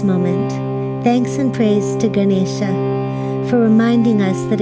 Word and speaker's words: Ganesha: effects of the words Ganesha is said with a retroflex n so the tongue rolls back like gara's trunks celebrating this new now